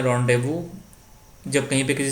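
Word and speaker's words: rendezvous: number देते फलो ड है द करेक्ट कौन स्पेलिंग सही है तो य रोंव इसको बोलते हैं रंड देवू जब कहीं पर किसी से निश्चित समय पर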